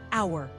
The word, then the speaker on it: hour: It's an hour, not a hour, he said. The H is silent. It sounds like hour.